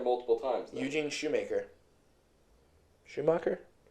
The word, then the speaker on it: Shoemaker: Schumacher? It's spelled Shoemaker. So then it's probably Shoemaker.